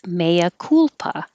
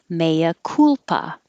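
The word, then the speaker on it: mea culpa: looked this up and it's maya kulpa however i and probably a lot of other americans haven't pronounced this as cool i've pronounced it as col so you'll hear it both ways i'm sure maya culpa or maya culpa it's latin i'll put this and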